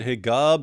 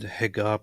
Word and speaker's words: Hegab: His name is Mohammed Hegab, Mohammed Nabil Hegab. Uh, in Egypt, they kind of pronounce the same letter that you use for a j sound with a g in traditional ways, and name themselves, and